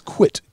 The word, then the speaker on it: quit: and by the way a lot of people pronounce it as quick as in fast quick but in fact it is it is quit q-u-i-t so what's the difference